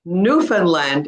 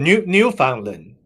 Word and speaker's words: Newfoundland: So anyways, the stress is on the word new.